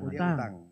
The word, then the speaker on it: utang: Hutang bacanya hutang. Utang. Iya, utang.